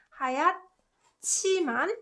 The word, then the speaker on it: 하얗지만: 제 고양이는 하얗지만, this one has 히읗 받침 and 지읒 consonant, right? So it produces 치 sound. That's why it's pronounced like 하얗지만, right?